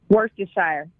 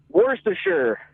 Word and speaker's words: Worcestershire: to shire how do you say it ashley worse desire okay worse to shine like jordy foster though damon from boca how do you say it worse for sure worse to sure see i hear that so